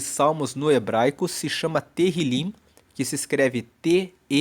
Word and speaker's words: Tehillim: Tanto que o livro de Salmos no hebraico se chama Tehillim, que se escreve T-E-H-I-L-I-M, e Tehillim quer dizer louvores.